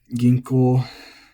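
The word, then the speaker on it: 銀行: Ginko, flat. Let me check if the alternate pronunciation has gotten popular enough. Nope. Dictionary still says ginko, so I do recommend that.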